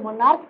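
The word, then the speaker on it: monarch: क्यों, क्योंकि यहाँ पे इसका उच्चारण क है, इसका जो उच्चारण है क है।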